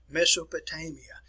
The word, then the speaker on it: Mesopotamia: So the area I'm going to be talking about is an area which is pronounced Mesopotamia.